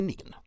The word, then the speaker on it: Negan: It's pronounced Megan. Now we know it's Negan.